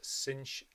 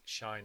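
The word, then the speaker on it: sinh: bit more detail on shine X just a quick word about pronunciation some people call this cinch X or sine H X I'm going to call it shine X throughout these videos so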